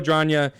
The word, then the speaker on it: Adragna: But it's Adragna.